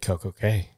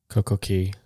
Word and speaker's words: CocoCay: But I guess the Bahamas dialect pronounces C-A-Y, which an American might read as K. It's pronounced as key.